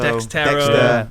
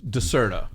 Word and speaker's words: Dexerto: Dexterto. Yeah. We should do a PSA on how to say it. It's Decerto. Decerto. DESERTO. Yeah, Decerto. Decerto.